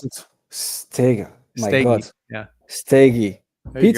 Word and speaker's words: Steege: Did I pronounce it? Steege.